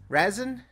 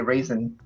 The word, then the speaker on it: Razin: know what you know I'm actually surprised you pronounced it right razin well most people say raisin raisin raisin raisin is